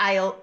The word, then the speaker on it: isle: of Arran, and the Isle of Man. Back to the pronunciation again. Isle. Isle. Isle. So, what's the silent letter here? Well, it's S. The words have a silent S.